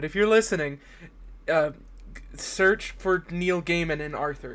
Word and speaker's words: Neil Gaiman: of I've never learned how to pronounce it. It's either Neil Gaiman or Neil Gaiman. It's Neil Gaiman.